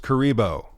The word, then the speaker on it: Kuribo: known kira kerber kirby hey it's pronounced kuribo right the goomba shoe